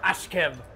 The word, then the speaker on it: Askew: pronounced dime damn damn oliver ashkev did you guys know that's how you actually say his last name fire yeah it's good